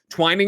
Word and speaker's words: Twining: We've been saying Delaney's last name wrong. He was nice enough to finally write in on Patreon to let us know. Twining is right.